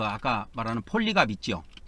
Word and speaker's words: 폴리캅: 그리고 사도 요한, 그 다음에 사도 요한이 이제 그 아까 말하는 폴리갑 있죠. 폴리캅 해도 되고 폴리갑 이렇게도 발음을 합니다.